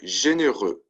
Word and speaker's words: généreux: Généreux, right? And you'll notice there for the masculine singular and the masculine plural, it's spelled the same way and it's pronounced the same way.